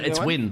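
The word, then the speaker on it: Nguyen: You pronounced that name correctly? It's Win.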